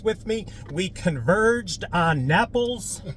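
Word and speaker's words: Naples: me we converged on napples Florida rhymes with apples we are checking out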